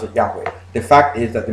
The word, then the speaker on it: Yahweh: okay it's not some people who pronounce it yahweh the fact is that the majority of experts linguists and biblical scholars agree that the most likely pronunciation for the grammar trump is yahweh okay and nobody believes in the word jehovah